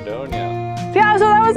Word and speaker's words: Dordogne: Dordogne. Dordogne. Is that how you pronounce it?